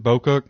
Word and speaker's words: Bocook: I modeled Is that how you pronounce it, Bocook? Bocook. Okay, yes.